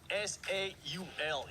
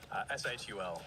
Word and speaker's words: Seoul: Is it, before you even answer me that, is it Seoul Esports or is it SAUL Esports? SHUL Esports. Ah. Wait, you have a background. Ah, so that's how they say it.